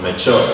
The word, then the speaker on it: mature: This is called mature.